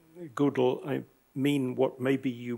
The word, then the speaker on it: GDAL: object oriented, so that he always pronounced it geographical object oriented data abstraction library.